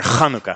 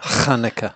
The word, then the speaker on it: Hanukkah: You know, the whole pronunciation comes from just stuff caught in your throat. L'chaim. You got to get a little Hanukkah. phlegmy in there. Hanukkah. Hanukkah.